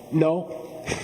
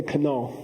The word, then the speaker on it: know: Geshe, why is the K there? We don't pronounce it, right? We don't say kano.